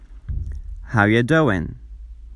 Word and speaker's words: How you doing: دوست عزیز، در گفتار you میشه یه و ing ها جی آخرشون تلفظ نمیشه. How you doing?